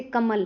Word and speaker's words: कमल: जैसे कमल है, नगर है, इन शब्दों में म और ग पर ज़्यादा जोर दिया जाता है।